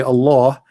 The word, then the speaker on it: Allah: You say Allah the H is really strong. In Arabic there's light light light h which is not even pronounced.